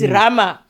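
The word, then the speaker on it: Roma: capital city of Italy it's Rome not Rome it's Rama.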